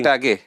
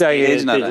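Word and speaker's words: Tagenarine: Tej or Tage? Tej Narayan, no? Tej Narayan. Well, it's spelled Tag Narayan, but I'm sure it's Tej Narayan.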